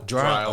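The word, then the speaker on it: Drile: Would you pronounce it Dryle or Drill? Dryle.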